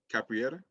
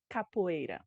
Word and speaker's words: capoeira: correct me if i'm wrong uh capra capera capriera capoeira capoeira see i knew i was gonna say